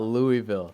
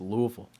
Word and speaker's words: Louisville: It's not Louisville. It's Louisville. Louisville. No, Louisville. Okay. Louisville. That's how they say it over there.